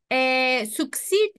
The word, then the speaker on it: succeed: Cuando vean dos E's juntas, se pronuncia I, una I un poquito más larga.